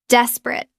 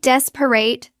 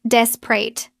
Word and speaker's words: desperate: Desperate. It looks like desperate. Three syllables. Natural pronunciation. Drop the middle e. It becomes desperate. Two syllables.